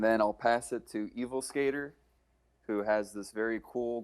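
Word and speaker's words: Evilsk8r: How do you pronounce it? Evil Skater.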